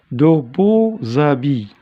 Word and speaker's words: beaux habits: Alors, il se prononce quand il y a la liaison. Ici, de beaux habits. De beaux habits. Il se transforme en Z, en habits.